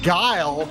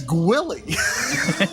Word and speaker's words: Guile: And he's not Guile, he's Gwilly.